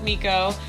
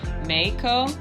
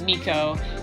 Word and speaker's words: Meiko: in the previous video but her name is Miko and it is spelled slash pronounced incorrectly it is a Japanese name but the way that we spell is MPI k-o which would normally be pronounced Mako but we have this artist that we listen